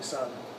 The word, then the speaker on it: Aung San: Aung San? Son. How you spell it?